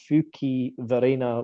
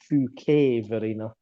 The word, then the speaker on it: Fuquay-Varina: I went with Fuquay-Varina, which you told me it's actually Fuquay-Varina.